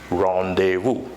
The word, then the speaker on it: rendezvous: what is it rendezvous isn't it weird that I've been like the work we just appearing over there it's not actually sounds the way it is appearing yes it is so the pronunciation of this term is rendezvous and you know the